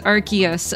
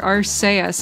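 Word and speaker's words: Arceus: SE s I'm sure official pronunciation of arus archus oh okay so some fans in media have pronounced it as rcus or arus arus I hadn't heard Rus before the latter pronunciation was avoided in the movie of RC oh interesting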